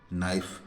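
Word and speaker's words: knife: उसका उचार और जैसे के एन आई नाइफ है ना तो यहां पर के साइलेंट है जैसे नॉलेज तो यहां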